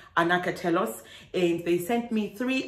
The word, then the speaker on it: Anacatelos: give me a tutorial on how to actually pronounce their name, which is Anacatelos.